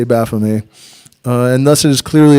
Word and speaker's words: Baphomet: For Baphomet should be spelt with a T at the end. Thus, it is very clearly a corruption. Shouldn't be spelt with a T at the end. That's why I say Baphomet.